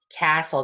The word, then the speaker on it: castle: Castle. The T is silent, so just castle.